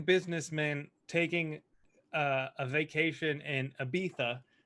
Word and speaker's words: Ibiza: mean Ibiza or Ibiza Peetha alright I don't know where Abita is I'm very stupid a visa is a visa but they don't pronounce disease in Spain they pronounce some more like th's so it's not a